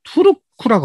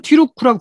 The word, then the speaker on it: 튀르크: 자, 이들이 이렇게 공통적인 것을 갖게 된 이유가 뭐냐면 바로 투르크라고 하는 투르크 또는 튀르크라고 하는 겁니다. 사실 튀르크라고 부르는 게 맞아요. 그러니까 유에다가 움라우트를 붙이는 게 튀로 발음할 수 있거든요.